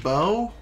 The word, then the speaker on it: Bow: Say hello to Bao for me. And, I think it's pronounced Bo. But I may keep calling her Bao because that's what I called her as a kid.